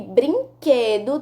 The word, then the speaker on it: brinquedo: qss é um dígrafo e brinquedo tem o q u e quando pronunciamos a palavra brinquedo não pronunciamos o que o pronunciamos ele como se fosse o único som então a resposta é